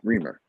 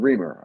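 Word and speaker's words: Riemer: tonight for this application got Remer got reamer okay Mr reamer I I now know how to say it um uh anyone uh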